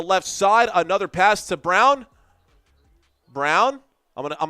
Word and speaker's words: Braun: So Brown, not Braun.